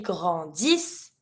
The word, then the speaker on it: grandissent: Grandissons, vous grandissez, ils grandissent, elles grandissent. Never pronounce the ENT. Double S, always S sound.